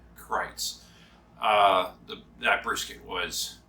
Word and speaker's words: Kreuz: christ by the way that is the proper way to say it is kreitz he told us it's like kites but with an r right so krites uh the that brisket